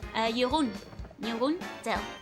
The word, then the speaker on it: Jeroen Tel: This Jeroen Tel is Dutch. Jeroen Tel is how you would pronounce it in Dutch.